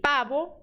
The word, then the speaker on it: pavo: força nesse L el letra V som de b de bola tá el pabo el pavo R vibrante tá R